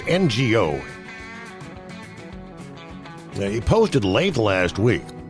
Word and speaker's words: Ngo: Go. It's NGO.